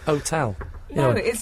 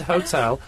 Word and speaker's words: hotel: the H in h people say otel and herbs it's h it's h no are we just going to argue about this next I don't care what the official rules are okay skin is not here now it's herbs and hotel and H Frank says